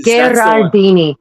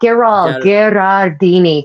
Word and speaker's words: Geraldini: The Geraldini. Not Geral Gardini.